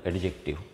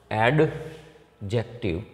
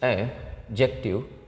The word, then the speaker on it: adjective: First of all, I would like to tell you that it is not adjective. Here D is silent, it is adjective.